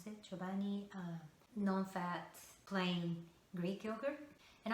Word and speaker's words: Chobani: So my very first smoothie was berries and banana and chobani, that's how you pronounce it, chobani, non-fat plain Greek yogurt.